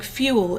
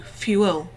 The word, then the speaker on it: fuel: metrical purposes there's also two ways of saying fuel in English it could be one syllable as here or it could be pronounced as two fuel uh here because of the meter it's going to be one and there are a